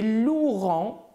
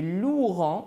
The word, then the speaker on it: loueront: Et loueront, c'est le verbe louer. Et loueront, donc on ne prononce pas le E, mais quand même, il faut l'écrire parce que ça fait partie de la conjugaison de ce verbe.